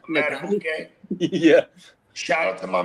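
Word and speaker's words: Madubuike: Matabuke.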